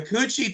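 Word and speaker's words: Củ Chi: guys know, the Coochie tunnels. I'm trying to say that without laughing, but that is how you pronounce them.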